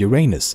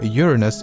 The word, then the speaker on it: Uranus: Earths can fit inside Uranus both pronunciation ations are correct by the way but astronomers and most of the scientific Community seems to prefer Uranus over Uranus my personal preference is